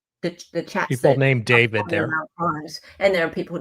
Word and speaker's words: D4VD: known professionally as Dave D4 VD, which is just pronounced David.